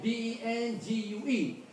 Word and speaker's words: dengue: D-E-N-G-U-E. But this is a foreign word. It's pronounced as dengue fever.